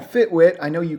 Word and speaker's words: FitWit: I run a company called FitWit. I know you called Fitbit, but we're two totally different things. I run a gym in Decatur, Georgia. FitWit, Fitbit. I get it. The W, the B, it rhymes.